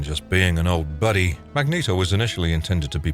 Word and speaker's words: Magneto: his superpowers are mutants because he's German his name is pronounced Magneto rather than Magneto Magneto voice actor John